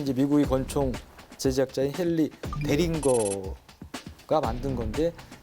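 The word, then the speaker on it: Deringer: 대린저는 19세기 이제 미국의 권총 제작자인 헨리 데링거가 만든 건데 이거를 말을 잘못해서 독일 발음이 영어 발음이니까 이름을 잘못 불러서 이게 대린저가 된 거예요.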